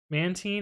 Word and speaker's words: Mantine: Mantine is how you pronounce it.